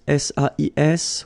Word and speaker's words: sais: Okay, so if you look carefully here, you write it S-A-I-S, well, the same way here. Here you write it S-A-I-T, okay, but then phonetically these three forms are the same, and it's c'est, okay?